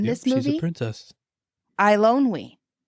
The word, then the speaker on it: Eilonwy: Eilonwy. How is it? What's her name? Eilonwy.